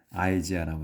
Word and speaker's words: Isaiah: 이제 우리는 이사야라고 하는데 영어로 이제 할 때는 아이지아라고 합니다. 아이지아. 이 아이를 영어에서 그냥 아이로 발음을 해요. 우리 한국에서는 이라고 하는데 발음에서는 영어에서는 아이라고 발음합니다.